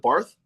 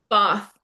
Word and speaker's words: Bath: for the Americans over here, where is Barth at? You said, was it Barth? Bath, yeah. Barth, yeah, bath. Like Like Bath? it's spelt like a bath. You know, you have a shower and then a bath. It's Oh, it's literally spelled Bath. spelt like bath.